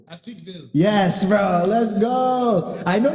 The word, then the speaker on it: Africville: Okay, Africa is kind of in the word. Africville.